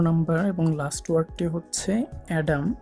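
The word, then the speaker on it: Adam: আমাদের 11 নম্বর এবং লাস্ট ওয়ার্ডটি হচ্ছে অ্যাডাম, যা আমরা প্রায় অনেকেই ভুল উচ্চারণ করি বানানের সাথে মিল রেখে ডিএম আদম বলি। মনে রাখবেন আদম ওয়ার্ডটির উচ্চারণটি সম্পূর্ণই ভুল, এর সঠিক উচ্চারণ হচ্ছে অ্যাডাম।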